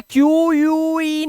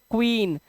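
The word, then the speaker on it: queen: ये कह रहा है यू को पढ़ना ही मत जैसे इसे इसे क्यू यू ईन नहीं पढ़ते इसे सिर्फ पढ़ते हैं क्वीन ऐसे तो हम यू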